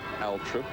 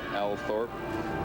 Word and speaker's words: Althorp: Mary the Virgin Church at Althorp, some say, or Althorp, some locals say.